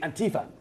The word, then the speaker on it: Antifa: And I've been taught by an American to pronounce it properly, Antifa.